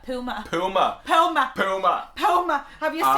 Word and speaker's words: Puma: How do you say Puma? Puma.